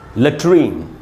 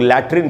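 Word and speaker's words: latrine: उसके बाद है दोस्तों लेट्रीन। लेट्रीन को अक्सर हम लोग लैट्रिन बोलते हैं इंडिया में। लैट्रिन इसका गलत उच्चारण है, इसका शुद्ध उच्चारण है लेट्रीन, और इसकी ओरिजिन फ्रेंच लैंग्वेज से ये वर्ड इंग्लिश में आया था।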